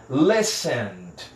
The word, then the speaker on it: listened: No passado ele fica com ED aqui, e esse ED vai ser pronunciado só como D. Listened, listened. Do N eu vou direto para o D.